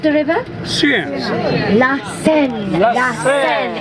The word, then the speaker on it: La Seine: La Seine is the right French pronunciation.